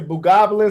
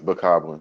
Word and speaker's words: Bokoblin: Well, something like if you run up on them, you say Bogoblins. How you say their names? Is that how you say it, Bogoblins? I think it's Bokoblin, like a Bogoblins.